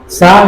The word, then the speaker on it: psi: हाँ साय है, हाँ साय का स्पेलिंग आई आई आई, गाना मत गाओ। साय का स्पेलिंग तो बता, PSI।